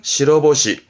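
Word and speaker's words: 白星: 발음은 시러보시, 시러보시.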